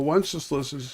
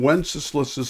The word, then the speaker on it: Wenceslas: And you go, well, Wenceslas it rhymes with useless, but but Sigismund is the one who is causing enormous amounts of pain.